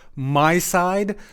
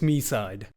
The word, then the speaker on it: MiSide: start by saying that I really really wanted it to be pronounced my side but uh if the Japanese vo is to be believed it's me side I just to it